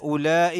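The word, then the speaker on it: أولئك: കാലഹും അവിടെ കാലഹും പിന്നെ ഉലായി എന്നുള്ള വാവ് അവിടെ സൈലൻറ് ആണ് ഞാൻ അവിടെ ഉച്ചാരണം ഇല്ല ഇദ്ദഹാം ഉലായി പിന്നെ ലാം അതിനുശേഷം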